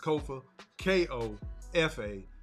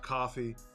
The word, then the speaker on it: Kofa: I am your humble host, Kofa, K-O-F-A, not coffee, not kufu, not Kofi, or any variation thereof. Kofa rhymes with sofa.